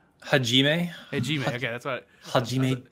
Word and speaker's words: Hajime: Hajime.